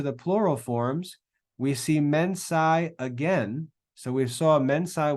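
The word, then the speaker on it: mensā: Mensa, notice a long A at the end for the ablative. That's the only difference. It's just a longer A.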